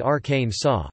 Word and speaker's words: Arkansas: States typically pronounce it Arkansas, which is how the Arkansas state is always pronounced according to a state law passed in 1881.